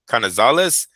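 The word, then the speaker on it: Canizales: And Orlando Kn uh Knazales, is that how you say it? Orlando Knazales. Canales canales was a great He's just like him.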